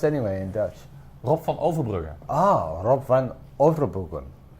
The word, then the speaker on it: Rob van Overbruggen: So welcome, it's Richard Flook, and I have here the wonderful Rob van Overbruggen, who, did I pronounce it?